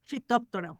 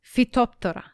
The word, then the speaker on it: Phytophthora: Phytophthora. Phytophthora.